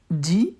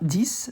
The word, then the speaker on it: dis: Dis, it's not this.